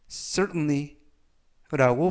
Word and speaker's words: certainly: 뜻이 되겠습니다 이번 표현은 certainly라고 발음하시면 되겠고요이 의실 점은 가운데 부분에 있는 알파벳 t 음은 아니지만 연음에 의해서 발음할 때 거의 발음이 나지 않습니다 그래서가 아니라라고 발음하시면 좋겠고요